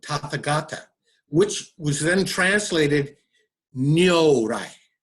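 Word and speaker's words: 如来: That's a Sanskrit word, Tathagata, which was then translated Nyorai, right, by the Chinese. And the pronunciation in Japan is Nyorai.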